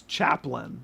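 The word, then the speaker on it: Chaplin: Charlie Chaplan. You said Chapman. No, I didn't. It's Chaplain.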